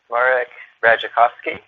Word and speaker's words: Radzikowski: And so there's two slight sounds that are different, just the D that are a J sound, Raj, and the other sound is off. O-W. It's pronounced not ow, but off.